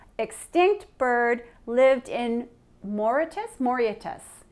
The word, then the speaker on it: Mauritius: Mauritius.